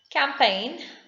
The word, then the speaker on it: campaign: the leaves fall off campaign g is silent talk l is silent